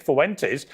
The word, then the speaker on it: Fuentes: Therefore, you are contributing, Nick Fuentes, to the diminishing white population. I'm confused. Why does he make it 3 syllables? Fuentes. Fuentes. Fuentes. Fuentes. Not Fuen.